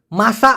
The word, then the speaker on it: masak: দেখুন, একবার জিজ্ঞাসা করেছে যে মাসা মানে হচ্ছে রান্না করা। এখন মাচাহ মানে সময় না, এখানে মাসা, মাসা মাসা, হ্যাঁ, থাকবে না। কিন্তু মাসি মানে কি?